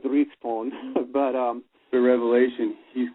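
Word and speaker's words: dryhten: like Dragon well yeah it's spelled d r y g h t o n and so it's one of those old you know probably they pronounced it drione but um the Revelation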